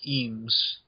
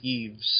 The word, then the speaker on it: Eames: Yeah, it's pronounced like Eve, but it's like Eames. E-A-M-E-S. Eames, yeah. Eames, yeah. No, it keeps saying Eves, so it's like sounds like Eves, but Eames.